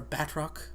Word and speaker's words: Bardock: that they have that her she's like with Bardock and like uh this other guy, I forgot his name, but uh or Batrock, that's how they pronounce it.